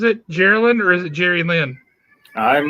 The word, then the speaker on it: Geraldine: Geraldine, or is it Jerry Lynn? I'm not going to answer that because I'm. Or is it Jerry-Lynn? How does she pronounce it?